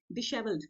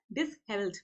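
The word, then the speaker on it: dishevelled: इसको British English में डिशेवल्ड pronounce करते हैं, बट अमेरिकन इंग्लिश में हम इसको डिसहेवल्ड प्रोनाउंस करते हैं, ठीक है. सो प्रोनाउंसिएशन में हम फॉलो करते हैं अमेरिकन, राइट.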